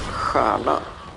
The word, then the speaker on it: stjärna: the T there, and in Swedish we spell it with a star, as in S-T-J, but we pronounce it as stjärna, so you can't hear the T there anymore.